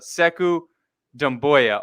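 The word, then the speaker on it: Sekou Doumbouya: we go uk nets fans help us out seku damboya okay i got it right i got it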